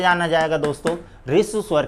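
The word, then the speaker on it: ह्रस्व: इसी प्रकार है के नीचे री लगी तो इसको बोला जाता है हरिसु बोल देते हैं, जबकि इसका सही उच्चारण हरिसु नहीं, इसको सही उच्चारण है इसका रिसु स्वर।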